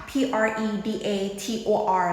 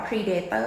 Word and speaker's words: Predator: นะ คะ คำ เนี้ย คน ไทย อ่ะ จะ ออก เสียง ว่า Predator ใช่ ม แต่ จริง ๆ แล้ว นะ คะ มัน จะ อ่าน ว่า Predator Predator แบบ นี้ นะ คะ ลง เสียง หนัก ที่ พยางค์ ที่ 1 ค่ะ Predator จะ แปล ว่า